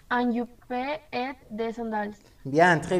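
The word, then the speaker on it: jupe: Y un casquet, un t-shirt y un yupe et de sandales. Bien, très bien. Hay un error ahí. En el yupe, acuérdate que es yup, porque la E no se pronuncia.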